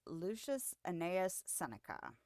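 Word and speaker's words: Lucius Annaeus Seneca: future and that is Lucius anaus senica pretty sure I pronounced that correctly looked up the pronunciation earlier I was like okay that seems straightforward but this is I was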